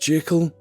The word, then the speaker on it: Jekyll: jerker will show you to your room alright okay it's pronounced Jekyll I've told you this many times already do I need to